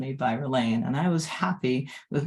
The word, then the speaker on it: Ralane: When I was little, I had trouble pronouncing my name, and I would say when people asked what my name was.